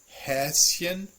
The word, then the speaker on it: Häschen: So here we still have the chen ending, and that's why it doesn't combine with the S to make a sh. sound.